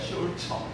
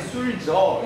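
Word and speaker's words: Sulzer: 슐처. 알겠죠? S-C-H-U-L-Z-E야. 슐처. 이렇게 되기 때문에 발음이 술저 이렇게 영어식으로 Z만 Z에서 술저 이렇게 발음하는 경우도 있고 독일식 발음으로 슐츠에서 슐처 이렇게 하는 경우도 있습니다.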